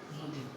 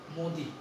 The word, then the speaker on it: মোদী: তাইলে মোদী উচ্চারণ হলো মোদী আর হলো মুদি। এই মুদি এটা হলো দুইটা ঠোঁট গোলাকার হবে, আর এটা ঠোঁট খোলা গোলাকার হবে না, বরং বিবৃত হবে, অর্থাৎ বাতাস যেন বাইরে